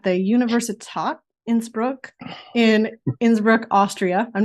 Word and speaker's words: Innsbruck: Broad studying at the University top Innsbruck in Innsbruck Austria I'm not sure I pronounced that correctly you did yeah yeah oh